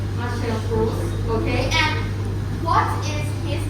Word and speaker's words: Marcel Proust: And French is pronounced as Marcel Proust. Marcel Proust.